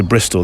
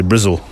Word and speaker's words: Bristol: bristolian in this country they don't say Bristol they say brzil come to brzil right